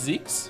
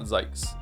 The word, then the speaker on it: Zeke: It's Zeke. Okay, so I'm saying it right. It's not Zekes.